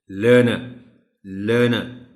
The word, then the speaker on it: learner: Tell them that this R is silent and the correct pronunciation of the word is learner.